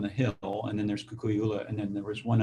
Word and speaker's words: Kukui'ula: Kukui'ula. Okay. So it's if you know the kukui tree. Right. Kukui tree was known as the candle nut tree, right? And ula is red, I believe.